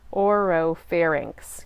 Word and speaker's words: oropharynx: the mouth and nose in moves through the oropharynx let me make sure I'm pronouncing that right oropharynx yes Oh ro pH AR Y and X